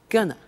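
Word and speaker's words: gonna: take the tube now very often when you hear this form you hear a pronunciation like Gunna so they're going to take the tube and that's when we completely contract they are going to and it becomes Gunner and often you see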